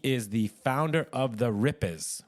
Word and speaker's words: Rippers: JD hail JD is the founder of the ripers right is that the that's the correct way to say rippers is that uh yeah you think the Rippers